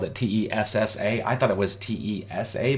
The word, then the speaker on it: Tessa: He says, no, it's Tessa, T-E-S-S-A. We have problems pronouncing things. So they, when everybody in UK would pronounce it to me, they would say taser, taser, taser. Mm. And they were they have accents. Using a Z. The sound was a Z instead of S.